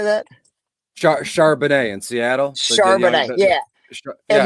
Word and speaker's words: Charbonnet: Is it Sherbert? What's the backup's name? Zach, how do you say that? Charbonnet in Seattle.